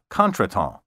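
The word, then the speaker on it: contretemps: often used in conversation its pronunciation has never been fully anglicized in other words made to conform to english ways current dictionaries generally prefer the half anglicized contraton the plural is spelled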